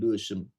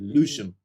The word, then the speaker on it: Lewisham: Yeah, so for example, in London, there's an area in London called Lewisham. Most time from London say Lewisham. We ain't got time to pronounce all the syllables, you know.